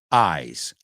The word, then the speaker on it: eyes: Eyes. You're holding it. It's not eyes, right? It's eyes. It's almost like a sigh, right? Bueno, rima. Eyes rhymes with sighs.